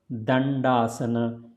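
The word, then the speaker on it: Dandasana: So it is, you see there are two D, but they are pronounced differently in Sanskrit. Not the same way. So first one will be pronounced here as a the. So you put the tongue in between, pull it back when you say it.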